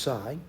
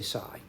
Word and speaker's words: psi: symbol over here is around pronounced PSI some people say with the p is probably a little odd but they do say it with the p is sort of like the pay but I say just